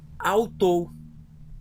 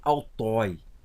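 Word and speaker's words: αὐτῷ: O iota não está no lado do ômega. Então, quando eu for ler, ele não vai ser pronunciado, por mais que ele está presente. Então, alfa, y, tau e ômega, e mais o iota, que não será pronunciado, mas tem que ser escrito, eu vou ler autou. Autou. Não vou ler autói, porque o iota, depois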